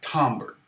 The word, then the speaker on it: timbre: nylon especially, actually, it will have a different timbre, and that's spelled Timbre.